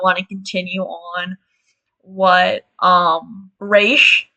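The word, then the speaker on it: Ra's: to continue on what Raish, that is how you pronounce his name, by the way, what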